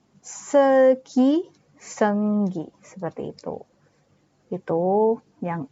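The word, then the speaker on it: 슬기: Kayak contoh misal artis Korea, misalnya namanya Seulgi. Jadi, misalnya kita mau baca namanya Seulgi ya, itu kita U-nya tidak terbaca, tapi hanya E saja.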